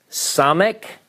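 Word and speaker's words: ס: cuff all right so now the Hebrew letter some ik now I'll show you this as we work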